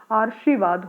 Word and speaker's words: आशीर्वाद: तो वो कहाँ होगा, इसका उच्चारण जो है वो र से पहले यानी श से पहले किया जाएगा। इस र का उच्चारण कहाँ होगा, यहाँ श से पहले। तो उस के अकॉर्डिंग तो ये हो जाता है आशीर्वाद हो जाता है,